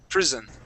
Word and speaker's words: prison: S sound like that we'd make more of a z sound saying pris prison prison there you go much